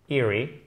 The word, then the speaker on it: eerie: A nearly, eerie. Il y a deux E, mais attention, c'est un i court. Eerie, avec l'accent tonique sur la première syllabe, qui signifie étrange au sens d'inquiétant.